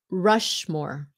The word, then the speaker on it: Rushmore: Mount Rushmore. Rushmore. SH sound. Không phải là rush. Look at my mouth is different.